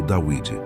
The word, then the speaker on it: Dawid: que na escrita fenícia o nome David se pronuncia como dawid basicamente Esta é a